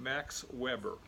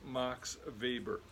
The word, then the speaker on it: Weber: like Karl Marx now if Max Weber had been born in Great Britain we would probably call him Max Weber but the German pronunciation of his name is Max Weber much of what he